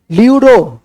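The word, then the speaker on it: pleuro: ठीक है लिख देंगे पीपीएलओ का पूरा नाम लूरो लिखेंगे लूरो न्यूमोनिया लाइक ऑर्गेनिस्ट लूरो लूरो का स्पेलिंग लिखेंगे पी एल ई यू आर ओ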